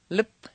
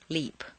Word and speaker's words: lip: of over pronouncing it lip instead of lip so it doesn't sound like leap repeat one eat it